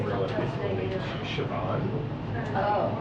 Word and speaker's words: Siobhan: I dated a girl in high school named Siobhan.